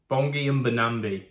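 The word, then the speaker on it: Bongi Mbonambi: Why do I need the Catalan pronunciation? Bongi Mbambi. Bongi Mbambi.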